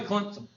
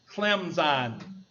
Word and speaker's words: Clemson: SI i n Clemson they won't say Clemson because they're associated with us rednecks so they go out of their way to pronounce it clemon listen you got to